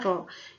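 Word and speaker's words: rho: Pa Lalu ada Arok bukan ke ini ya dibacanya roll ini adalah massa jenis zat cair dengan satuan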